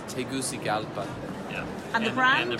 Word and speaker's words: Tegucigalpa: the factory is located yeah how do you pronounce it we get asked this yes well you'll hear things like Taguchi gala and you know things like that but it's Tegucigalpa yeah and it Ryan the brand new steak